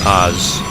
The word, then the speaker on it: Oz: fnatic Oz thank you I think we should say Oz and that's how we uh pronounce it but uh they're having